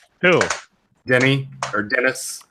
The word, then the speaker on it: Denis Villeneuve: was about to ask what is the actual pronunciation for his name do dennee or Denis Denis Villeneuve okay okay Villeneuve Ville someone who L named